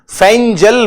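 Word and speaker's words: Fengal: अब ध्यान देना, नाम में फेनगल लिखा है लेकिन प्रोनाउंसिएशन में फेंजल बोला गया है।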